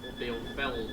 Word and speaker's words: Bielefeld: way to our first stop in Bielefeld, or Bielefeld, as it should be pronounced.